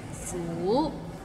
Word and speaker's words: 苦: Maybe it's the second tone that's hard to pronounce. Like 苦. It's kind of like when you ask, is the parking lot full?